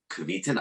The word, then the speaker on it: Kveton: I'm honored and excited to have today Scott Kveton. I hope I pronounced your last name correctly.